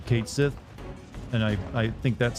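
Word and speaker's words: Cait Sith: this game come out because it's supposedly it's pronounced catchi but I think that's stupid and I've always pronounce it as Kate Sith I don't know how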